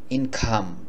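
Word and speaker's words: income: আমরা বলি ইনকাম আর ব্রিটিশ বা আমেরিকান যারা তারা বলে ইনকাম ইন খাম খাম বলে খাম ইন খাম এভাবে বলাটা বেশি ভালো ইনকাম মানে হলো আয়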